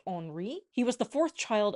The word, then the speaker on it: Henri: Francis actually married twice, which we'll get into later, and Henry, his son, he would have been Henry II, and I believe it's actually pronounced Henri.